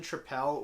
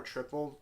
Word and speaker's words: Tripel: This is their Belgian Tripel or Triple. You can pronounce it however you want.